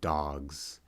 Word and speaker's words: dogs: It's also kind of like how the S in dogs is pronounced like a Z sound, but to our minds it's kind of like an S.